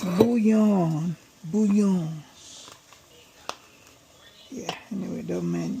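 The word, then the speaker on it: bouillon: I think it's a French word. And the L is silent.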